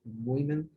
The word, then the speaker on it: women: Doesn't it surprise you that middle-aged women were the first to get hooked? Very good. Very good, Diego. Just the pronunciation.